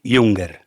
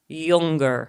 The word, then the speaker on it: Junger: always can't pronounce again you just told me how to how to actually say your last name yunger yunger yeah um Dr yunger uh